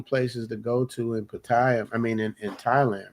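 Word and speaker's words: Pattaya: How do the Thai people say it? Paya. So you got to hit that yah. We hit the we hit the second syllable paya.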